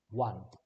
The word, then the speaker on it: won: one yeah so remember pronunciation of the win in the past is one the ruling power had